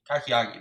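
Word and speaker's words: kakiage: tempura shrimp with kakagi a kakiyage um no that's how you say it kakiyagi kakiaki there you go dipping sauce served with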